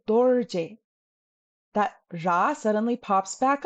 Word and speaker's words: Dorje: But the very common name dorje, we don't say doje, we say dorje.